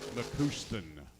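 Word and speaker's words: McCuistion: Pronounced McCuston. McCuston.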